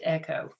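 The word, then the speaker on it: EKCHO: organization or echo it's spelled weird it's e-k-c-h-o pronounced echo my students and i looked to it as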